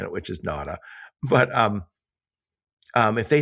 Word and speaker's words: Nauta: Yeah, NADA. NADA is perfect.